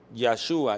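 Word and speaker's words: Yahuah: mi nombre yahwe salva Cómo se dice yahwe Salva yahua Ya yahwe yua salvación yahua en el hebreo yahua yah salva Así que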